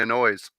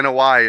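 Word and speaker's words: Anoaʻi: then the Samoan Dynasty they annoys absolutely the noi if you want to say it correctly in Hawaii all right producer Joe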